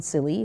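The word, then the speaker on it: Cilley: Takes place in 1838 between Jonathan Silly, who is from Maine. Silly, No one ever knows how to say it. Yeah. It is actually the Silly Graves duel.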